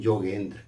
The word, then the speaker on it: योगेंद्र: जैसे लिखते हैं योगेंद्र तो पढ़ते हैं जोगेंद्र।